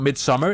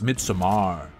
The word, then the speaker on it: Midsommar: There's an A. It's not Midsummer, it's Midsommar.